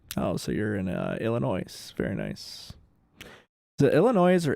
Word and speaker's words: Illinois: that up to two the s in illinois is silent that's what i thought